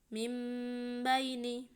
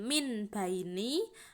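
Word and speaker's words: من بين: Contohnya mim baini, jangan min baini atau min baini, itu tidak boleh ya.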